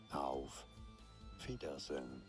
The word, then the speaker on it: Auf Wiedersehen: Auf Wiedersehen.